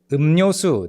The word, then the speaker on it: 음료: And then 음료수, this is also tricky because and then you want to say ryo, but and saying ryo right after a mium is tricky, so it becomes simplified. 음료. So just say 음료 with a nian.